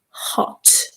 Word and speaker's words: hot: It is hot. Remember that h sound at the beginning. It's hot.